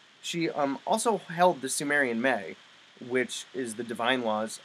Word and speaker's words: me: And by Mei, I'm pronouncing it the way Mesopotamians did, and it's actually spelled M-E.